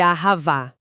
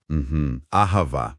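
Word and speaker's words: אהבה: A gente também vai esbarrar em termos recorrentes no texto, tipo o amor, que chamamos de Ahavá. Ahavá. E o espírito, que pronunciamos Ruar.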